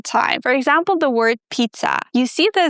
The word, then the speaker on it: pizza: It's p, like I need to pee, then t s and then the shwa at the end, uh. So in the word pizza, the t and s give this very weird sound.